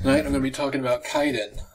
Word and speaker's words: Kwaidan: to be talking about kaiden i guess is how it's pronounced i guess like the w is silent this i don't know